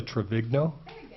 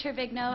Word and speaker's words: Trevigno: I mispronounced name travigno thank you I'm sure you did my name is trevigno I live at 1000 Erin